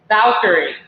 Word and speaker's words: Valkyrie: Am I pronouncing it right? It's called the Valkyrie? Valkyrie.